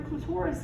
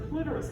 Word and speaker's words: clitoris: we need to learn what the clitoris is or clitoris however you want to pronounce it right it's the same